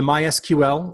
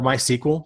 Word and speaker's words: MySQL: my sequel database and you can pronounce it either way I'm not going to get into a debate with anyone about how to pronounce it because the co-creator of the language actually said that either way is technically acceptable although mysql is a little bit more official my SQL or my